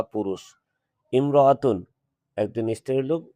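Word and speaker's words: امرأة: উল্লেখ্য, ইমরাতুন শব্দের পূর্বে যদি অন্য কোনো শব্দ আসে থাকে, তাহলে আলিফ যে হামজা দেওয়া আছে, এই হামজাটা উচ্চারণে আসবে না, হিয়াম রাআতুন আসবে।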